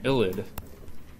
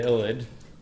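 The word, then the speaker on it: ylide: So let's take a look at how we prepare the illid. And it's spelled with a Y. It sounds kind of weird.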